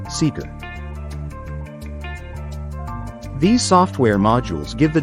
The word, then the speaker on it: SKR: At the core of its system are Telodine Fleer's proprietary technologies, Prism Supervisor and Prism SKR, pronounced Seeker.